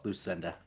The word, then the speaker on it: Luecinda: No, it's just Luecinda. Oh, Luecinda. Yes, the E is silent.